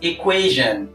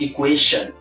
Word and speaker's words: equation: into practice the right pronunciation is equation equation not equation so there's a big difference between the sh sound and a sound this is a voice